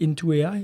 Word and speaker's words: Into AI: Sébastien, est-ce que je l'ai prononcé comme il faut ? C'est la compagnie, c'est Intoi. Exact.